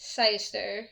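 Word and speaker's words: cyser: Oh, to make a spiced cider, I feel like I'm spelling it wrong, pronouncing it wrong.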